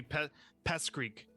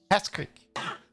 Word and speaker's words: Peskryk: Yeah, it would be Pest Creek. Oh, Pest it's Creek. K. Sorry, I thought I heard A. Oh, okay. It'd be Pest Creek. Peskryk.